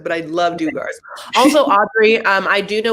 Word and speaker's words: Duggar: The Duggars, but I love Dugars.